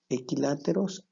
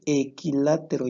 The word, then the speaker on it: equilátero: tenemos triángulos que son equiláteros isósceles y escaleno fíjate equilátero lleva acento en la y es equilátero cuando sus